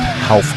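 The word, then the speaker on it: Ralph: uh there's no uh the r is pronounced as an H okay now we have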